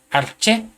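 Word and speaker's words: ἀρχή: es la palabra griega arche que viene en el en el número strong G746. es una palabra griega que se pronuncia arché y que quiere decir cabeza, gobernante, jefe, gobernador.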